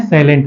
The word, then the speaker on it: slant: लेकिन यहां पे हम लोग जब भी शंकु बोलते हैं तो इसको बोलते हैं सैलेंट हाइट, ठीक है, जिसको हम हिंदी में कहते हैं तिर्यक ऊंचाई।